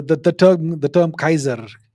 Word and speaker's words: Caesar: The actual pronunciation was Kaiser.